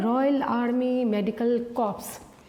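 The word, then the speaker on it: Corps: Royal army medical कॉर्प्स, royal army medical कोर्स, P silent है, कोर्स पढ़ा जाएगा, ठीक है ना।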